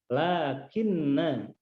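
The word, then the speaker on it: لكنّ: Lakinna. Tulisannya panjang, namun kita baca pendek. Lakinna huwa. Lakinna huwa. Ciri dibaca pendeknya yaitu alif pada lakinna diberi tanda bulatan, lingkaran. Berarti alifnya diabaikan, tidak diucapkan.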